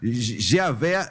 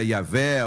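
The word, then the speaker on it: Yahweh: vogais aí tem yahvé Javé Jeová Jamais porque o nome J eh o a letra J pronúncia dela eh não existe no hebraico Ok então seria yavé Outros tantos tantas possibilidades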